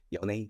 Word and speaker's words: Yone: But Keep saying like, Yon. most people are Yone.